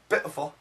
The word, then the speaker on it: beautiful: a glottle stop and the word beautiful sounds like bitful, bit beautiful, bitful, beautiful.